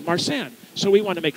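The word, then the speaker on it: Marsanne: Hannah married a mission soldier so these are pre-revolutionary family names marsh and sounds like the French grape from the Rhone Valley marsan so we want to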